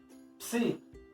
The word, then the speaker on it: psi: O psi vai ser então o pi mais o sigma. Vamos fazer lá PS. Psi.